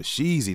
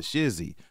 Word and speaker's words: sheezy: He was saying for Sheezy, not for Shizzy," right?